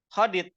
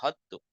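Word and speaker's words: خدت: Hodit hammam. Hodit itu gimana? Akhaztu. Bacanya hodit. Hodit hammam. Gak hodtu. Hodit hammam.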